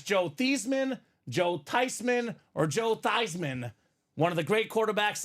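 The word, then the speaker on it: Theismann: mad because the family name is actually tysman Ty they've been pronouncing it wrong all along ouch so whether it's Joe thian Joe tisman or Joe thyman one of the great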